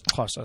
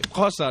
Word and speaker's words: Xhosa: And you got to say that every time.